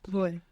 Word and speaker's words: voy: And you're mostly going to hear it pronounced more like a soft B. Boy. Boy. Voy.